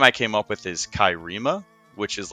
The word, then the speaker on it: Cairema: But the name I came up with is Kairima, which is like an anagram for America. How do you So spell that?